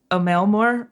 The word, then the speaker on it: Emil Moore: Moore is MOR. There's no E. Moore. You dropped that E. Can you spell that one more time for me? IMEALL. Emil Moore. M-O-R. Emil Moore. But it is pronounced a Mailmore or a Mailmore. A Mailmore. Okay.